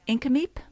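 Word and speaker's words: Nk'Mip: at um I always have a hard time pronounce it inam yeah the indigenous owned Winery and there's also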